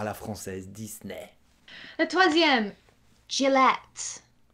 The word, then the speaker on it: Gillette: française disney un troisième gillett jellett les rasoirs gillette ouais ça à peu près la même chose sauf que le la première syllabe on la prononce différemment gillett et vous dit est